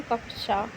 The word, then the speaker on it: कक्षा: कक्षा शब्द का शुद्ध उच्चारण कक्षा, शेष विकल्प उच्चारण की दृष्टि से अशुद्ध है।